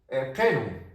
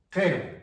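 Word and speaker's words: qiru: presencia de la Q, si está la I y la U, siempre se va a pronunciar la I como la E, la U como la O.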